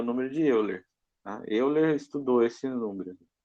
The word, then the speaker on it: Euler: Esse é o valor, esse número é chamado de E, é o número de Euler.